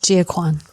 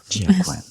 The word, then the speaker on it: Gia Kuan: Today I am with Gia Kuan, right? Yes. Is it the right pronunciation? Correct, Gia Kuan. Gia Kuan.